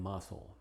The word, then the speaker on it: muscle: Y curiosamente es muda en algunas pocas palabras, unas menos de 10, como czar, indict, and muscle.